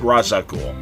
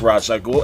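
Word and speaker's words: Ra's al Ghul: I'd like to point out that uh Denny pronounces it razaul and really up until uh Batman Begins I always pronounced it as razag ghoul and in fact I know the Batman animated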